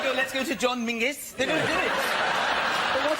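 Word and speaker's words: Menzies: His name is Mingus. Mingus. Yes. Goss. Yeah. Mus. Yeah, but it's pronounced it's it's spelled M E N Z I E S.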